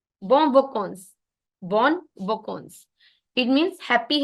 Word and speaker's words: vacances: Bon vacances on. Because जो an है ना, an आपका ओ बन जाता है ओ. vacances. va कौन कौन स. bon vacances.